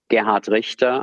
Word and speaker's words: Gerhard Richter: So Gerhard Richter, I'm pronouncing this deliberately in German and not in my German-American accent. Gerhard Richter Kunststiftung is basically a